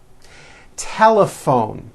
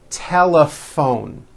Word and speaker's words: telephone: in that word laugh telephone notice the pH combination in that word is also pronounced as an F telephone it's the same thing